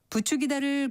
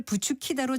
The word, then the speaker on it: 부추기다: 부추기다를 부추키다로 잘못 사용하는 것은 아마도 둘째 음절에 있는 추의 영향으로 그 뒤에 오는 소리도 거센 소리로 발음하려고 하기 때문인 것 같습니다.